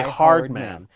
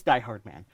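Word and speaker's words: Die-Hardman: a character's name die hard man die no K guy okay die hard man would I die that - hard men heart a lot of times it's pronounced Hardman but it's die hard man like my god those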